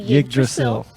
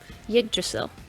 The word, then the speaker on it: Yggdrasil: So what are Norse divination cards, and is that pronounced Yggdrasil? Very, very close. It's actually Yggdrasil, Yggdrasil. the world tree. And the Say it again. Yggdrasil.